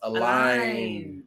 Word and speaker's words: Allen: Name is pronounced Align. Like align your car.